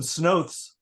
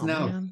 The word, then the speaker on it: snouts: I got some snoths. You got snoths. Oh, snouts. Those are snouts, by the way. Everybody mispronounces it.